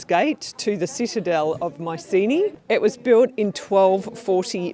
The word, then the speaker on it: Mycenae: And we are going to start here today with the ancient site of Mycenae. Or, as the Greeks pronounce it, Mycenae.